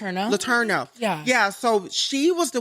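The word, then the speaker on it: Letourneau: How do you pronounce her last name? Latero.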